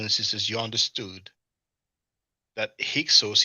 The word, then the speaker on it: Hyksos: I think by now, brothers and sisters, you understood that Hyksos is the Greek pronunciation of Hekahasut.